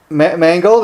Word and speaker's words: Mangold: uh we're speaking to legendary keyboardists mark um mangled am i pronouncing your name right mark yes you are